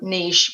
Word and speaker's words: niche: So it kind of, leads to, a certain niche or niche, however you want to pronounce it.